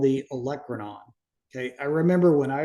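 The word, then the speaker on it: olecranon: So it's not the olranon, it's the electronon.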